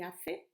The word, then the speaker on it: hace: Hoy está nublado y hace frío. ¿Qué hora es? Es la una en punto. O son las 10 en punto. Just to remind you, J, junio, remember? Hace, silent letter.